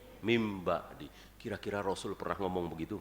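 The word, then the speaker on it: من بعد: mudah sekali dengan perumpamaan nun mati ketemu ba itu namanya iklab bacanya bukan Min b'di tapi min ba'di kira-kira Rasul pernah ngomong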